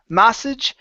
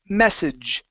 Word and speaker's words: message: to the word message give me an e sound instead of ma massage it's e me message message good job okay